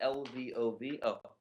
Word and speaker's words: Lvov: polish town of lev is that how you pronounce it lvov thank you he writes